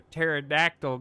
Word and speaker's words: pterodactyl: Hey, why can't you hear a pterodactyl go to the bathroom? Because the P is silent.